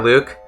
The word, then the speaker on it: Luc: said it's spelled l-u-c it's spelled l-u-c it's like like jean-luc picard right yeah it's about it's about like that yeah a lot of people say luck japanese it's it's are you kkku i got it right um but in english they spell it l you see and so i say luke a lot of people say luck though but you know it's and